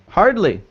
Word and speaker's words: hardly: Hardly. Yes. Yeah. Hardly. Make sure you pronounce the D.